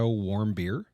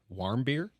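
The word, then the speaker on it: Warmbier: of OT warm beer warm beer I think is how you say it did he produce alcohol inside his own stomach because no and it's it's w a r m b i e r so I think warm beer but just I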